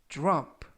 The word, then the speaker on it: drop: 이번 표현은 drop, drop, drop 라고 발음하시면 되겠고요. 이때 유의하실 점은 dr 발음이 주루 그래서 drop 라고 발음하시면 좋겠고요.